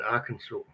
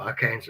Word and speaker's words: Arkansas: See, Johnny's time is a lot different, I think, in Arkansas, or Arkansas as it's spelled, that area.